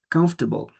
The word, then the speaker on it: comfortable: Um, the pronunciation of the word comfortable, but I Yes. don't. Okay. Yes. Most of you struggle with the pronunciation of this word, but the correct pronunciation in this is comfortable.